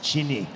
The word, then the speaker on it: Chini: My name is, well, in your tongue, the closest pronunciation is Chini. Chini.